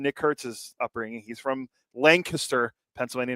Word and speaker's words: Lancaster: This is not Pennsylvania. It's not Lancaster. It's Lancaster, but it's spelled the same way.